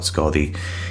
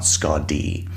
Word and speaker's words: Skaði: name is Scaldi, not Skadi. She is not a Star Trek character. The D in her name is actually an F. It's pronounced like the TH in weather or then.